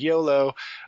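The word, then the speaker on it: Iolo: because you like come in and they're like YOLO as I call him it's like lol whatever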